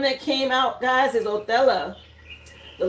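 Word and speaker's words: Othala: Again, it is pronounced Oella.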